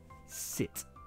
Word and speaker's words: sit: With the pronunciation, just make sure you get the short vowel right, I, not E, sit.